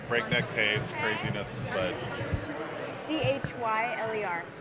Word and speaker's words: Chyler: things are always like breakneck pace, craziness, but Chyler, like Chyler. how many times do Killer, people Cheryl, mispronounce all that? the time. All the time? And when I introduce myself, for the most part, it's Tyler.